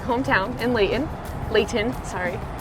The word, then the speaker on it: Layton: And May, we actually grew up in the same like hometown in Layton, sorry. Layton with a T. Layton with a T. I don't pronounce my T's.